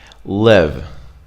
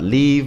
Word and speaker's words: live: if you're rushing it live live it's not leave it's not love it's live then we have to